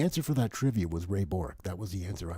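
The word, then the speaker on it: Ray Bourque: for that trivia was Ray Bor that was the answer I wanted rayor is that how you pronounce it because I was always told it was Burke Ray Bor oh ladies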